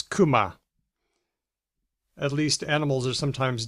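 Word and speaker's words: 熊: Kanji of the year is bear, and I think this is most often pronounced as kuma.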